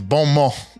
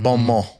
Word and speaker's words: bon mot: It's bon mot. It's, French. The people have Oh, the spoken. T. The T is silent, right? It's the T is silent. It's bon mot.